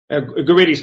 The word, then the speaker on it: Guridy: And I pronounced you wrong. It's Guridy, isn't it? Guridy's fine. Yes, Guridy.